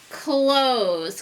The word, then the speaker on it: close: We hear the Z again, but guess what? Spelled with an S again. They're trying to trick us. Please close and a silent E. Remember that magic E that makes the O long?